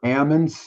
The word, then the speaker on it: almonds: is silent what happened well with almonds the L is silent right it's not almonds it's almonds or Ammond Alm knock the L